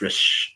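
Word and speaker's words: Raees: you can see is race that's on i'm pronouncing it wrong i know i am but it's r a e e s it's rish you know shiro khan which you know a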